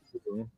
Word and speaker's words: Liu: I pronounce it Liu. It makes Liu? it easier for my neighbors. Yes, sir. Oh, okay. Cheers. You're totally ignoring the I.